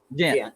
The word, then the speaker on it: Ghent: I'm a Notre Dame grad fan with family also in, is that Ghent or how do you pronounce that, Joey? Is that Ghent or Ghent? Ghent, West Virginia? Ghent.